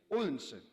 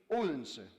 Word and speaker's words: Odense: Well, ladies and gentlemen, the D is silent. So it's Odense. So say after me, Odense.